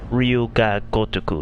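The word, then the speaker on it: 龍が如く: You say it as Ryuga Gotoku. That's how you say it.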